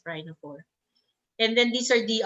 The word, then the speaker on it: rhinophore: rhinophore okay so pakme rhino4 most yeah it's spelled r i n o p h o r e s rhino four and then these are the ardiodoris and yeah